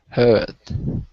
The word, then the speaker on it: heard: Heard. That's better. If you want to have an American accent, it's the same vowel sound, but you just pronounce the R like heard, okay?